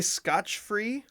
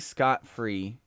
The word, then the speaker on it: scot-free: ever heard it differently some people say scotch-free which is which i found online as the most common mispronunciation was scotch-free i think scot-free is right yeah it's right i